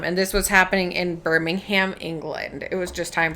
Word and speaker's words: Birmingham: Um, and this was happening in Birmingham, England.